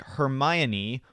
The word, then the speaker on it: Hermione: to avoid would be names like Hermione where the stressed syllable is far into the word so you're thinking Mayan MN but that's in the middle of the word so it's difficult to